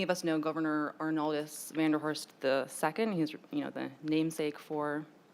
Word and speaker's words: Vanderhorst: And the Vanderhorst family, I know it is pronounced Vandross Street in Charleston, but historians say it would be pronounced Vanderhorst.